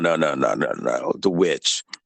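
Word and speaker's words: The VVitch: The Witch. Okay, I'm going to send you a link to it. It's spelled with 2 V's, but it's the Witch or Witch.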